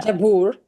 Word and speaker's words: Jabbour: have the incredible Carol Jabor is that how you pronounce it Jabor that's fine jab or if or if you're in Lebanon Jabor oh how do you saying yeah jabur jabur jabur that's it oh that feels